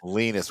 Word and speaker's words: Linus: Linus, we got to get his name right. IndyCar series, yeah. Rhymes with weenus.